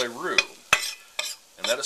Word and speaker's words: roux: The combination of the flour and the butter is called a roux, and that is spelled R-O-U-X. Doesn't look a thing like roux, but that's the way it's spelled.